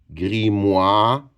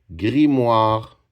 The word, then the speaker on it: grimoire: M m m wa. Qu'est-ce qu'il fait les son ? Les voyelles O et I. Grimoire R E. Grimoire.